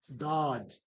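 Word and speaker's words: ضاد: So, board with a dot on top, now it's pronounced as dod. Dod. Board. It's similar to d. But, with a a mixture of w after d. So, like dod.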